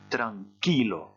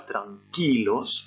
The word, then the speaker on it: tranquilo: Je vous donne la réponse, rien ne change, on va dire encore une fois tranquilos en insistant sur la même syllabe, tout simplement parce que